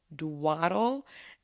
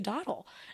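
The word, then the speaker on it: dawdled: wrong my entire life I have always said dwaddle and you might be thinking like what okay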